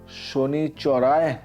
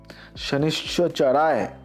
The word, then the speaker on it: শনিশ্চরায়: শনি মন্ত্র জপ করুন, ওং শনিচরায় নমঃ, ওং শনিশ্চরায় নমঃ। এই উচ্চারণটা কিন্তু একটু ঠিক করতে হবে, শনিশ্চরায় নমঃ।